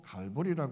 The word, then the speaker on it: 갈보리: 그 다른 데인가 그게 아니라 갈보리 해골이라 뜻에 라틴어인 칼바리아이 칼바리아 영어식 발음으로 갈보리 그렇게 표현한 거죠 예루살렘에